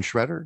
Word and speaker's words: Sciaretta: have a special guest his name is shredder did i say that right i did